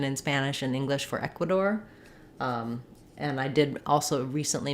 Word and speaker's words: Ecuador: like the Spanish so when we're saying Ecuador we stress on the E in English in Ecuadorian we do aqua door e n this is